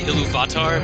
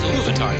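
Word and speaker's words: Ilúvatar: I knew you read it because you say Iluvatar, because that's how he says it in the audiobook, and he puts the accent on the wrong. It's Iluvatar. That's how you should say it.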